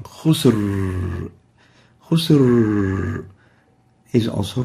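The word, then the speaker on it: خسر: Khusr is the right way of pronouncing this. But if we really make it so tense and short, it will sound like this. Khusr, as if there is a hamza or there is no Ra.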